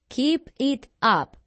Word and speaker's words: keep it up: up keep it up keep it up keep it up la pronunciación de esto es conjunta keep it up keep it up casi como si fuera una sola palabra y Bueno amigos Hasta